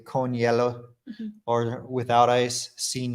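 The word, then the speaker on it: hielo: easy for me because it's basically like you're just saying the color yellow in English it's almost exactly the same pronunciation and by the way if you don't know yellow h-i-e-l-o that's the word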